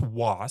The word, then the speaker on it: Wace: It's usually pronounced Was.